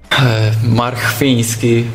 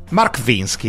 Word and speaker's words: Marchwiński: Andiamo a sentire come si dice il suo nome. Poi per i telecronisti è importante, ma non solo. Markwiński Filip. Markwiński Filip, yeah. Markwiński.